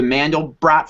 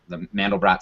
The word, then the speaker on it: Mandelbrot: A good way to summarize it is, the Mandelbrot fractal, which I've heard is pronounced Mandelbro, was the guy's last name, which is great to me.